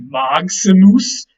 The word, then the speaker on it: maximus: And if you break that down, I respelled it for you there. It's actually maximus. The G and the S kind of form an X there in the middle.